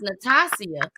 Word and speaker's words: Natasia: Because her name was pronounced Natasia, but they had her name as Natasha. They never called and said Natasha. They were saying the way they pronounce it, the way they wanted it to be spelled, which was Natasia.